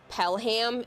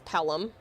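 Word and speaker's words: Pelham: So, you got to do like a soft H with all of these. It's not Pelam, it's Pelum. It's not Chatham, it's Chatham.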